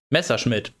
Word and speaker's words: Messerschmitt: Messerschmitt.